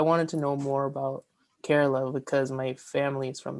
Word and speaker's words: Kerala: and so I wanted to know more about Carerala because my family is from there. Uh from where? Carerala. Okay, let me look that up. Spell that for me. K E R A L A.